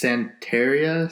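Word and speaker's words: Santería: those is a nickname it's pronounced Santeria since Santa Rio Santeria he's into yoga I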